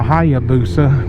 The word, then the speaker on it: Hayabusa: road on the busa or as i call it the hayabusa because that's the proper pronunciation i forget about this